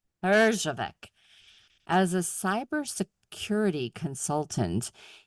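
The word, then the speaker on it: Herjavec: Parjave Arjavec.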